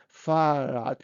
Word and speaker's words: Fahrrad: And look, in this case, so we create something like Fahrenrad, but in this case, it is easy to pronounce two r together, Fahrrad.